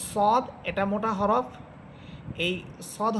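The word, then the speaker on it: ص: আচ্ছা, সদ এটাকে অনেকে সোয়াদ বলেন, সোয়াদ, দোয়াদ, এগুলো কিন্তু ভুল উচ্চারণ।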